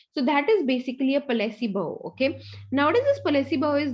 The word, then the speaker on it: placebo: Okay, next is a placebo. Rather I would say it's placebo. Okay, so it's a Latin word again, placebo.